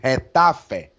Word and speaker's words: Getafe: Yeah, you don't know what to expect from this Getafe side, how number one likes to say, Getafe. This is how they pronounce it in La Liga.